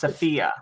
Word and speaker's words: Sophia: It's pronounced Sophia. Sophia the Tide Speaker. And he underlines the middle syllable.